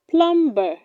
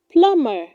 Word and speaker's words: plumber: do not say wednesday it is pronounced wednesday wednesday tom's brother goes to the store next wednesday six do not say plumber it is pronounced plumber plumber mac is an experienced plumber 7.